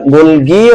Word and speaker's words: গলজি: আলোচ্য বিষয় শুরু হবে গোলজি বস্তু বা গোলজি বডি এখান থেকে। গোলজি এটার আরো একটা উচ্চারণ আছে। এটাকে আমরা গোলগিয়ে উচ্চারণ করতে পারি। গোলগি বা গোলজি দুইটাই সঠিক। দেখো গোলজি বস্তু এর আরো